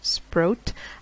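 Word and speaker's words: Sprott: I remember Shimel saying that you pronounce Jill's name like boat. So Sprout.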